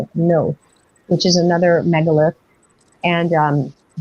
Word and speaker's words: Knowth: It was a 12-day trip, and we went to Newgrange and Knowth. I always call it Knowth, which is another megalith, and the Hill of Tara.